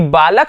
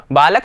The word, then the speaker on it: बालकैः: यहां पर ध्यान रखना विद्यार्थियों, बालकैः उच्चारण सही करना है। कभी कभी बच्चे क्या करते हैं, जल्दीबाजी में देखते नहीं हैं और आप क्या कर बैठते हैं, इसको पढ़ लेते हैं क्या, बालके।